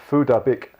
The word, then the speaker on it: Phuc Dat Bich: whose name is actually pronounced Phuc Dat Bich, posted an image of his after the tech giant banned him several times.